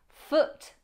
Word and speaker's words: foot: Foot rhymes with put, not boot.